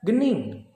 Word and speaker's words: gening: yang di sini ada Gening awas itu bukan bacanya G Uning tapi gening ya Ada lagi nanti kita